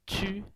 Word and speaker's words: 去: Chew, and you have to squeeze your lips a little, so it has a sound of squeezing in here when it is pronounced.